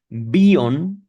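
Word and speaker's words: Bion: En 1938, WR B o lo voy a pronunciar de forma latina, Beon con I latina con la I normal, el palito y el puntito.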